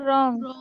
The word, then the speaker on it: wrong: तो रॉन्ग बोलते हो कि रॉन्ग बोलते हो? सर रॉन्ग। तो उसमें भी डब्ल्यू साइलेंट हो गया ना?